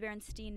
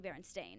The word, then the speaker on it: Berenstain: everyone's like I swear it's the Berenstein bears and but it's like no it's actually Berenstain and for that to